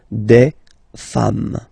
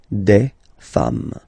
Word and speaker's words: des femmes: singular form, and then you just add this s at the end, and as we said, you don't pronounce it, so you get des femmes. Okay, des femmes.